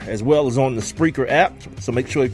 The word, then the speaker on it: Spreaker: get that joint that's PR EA keer is how it spelled like speaker but put an R in between the P and the e you can also hear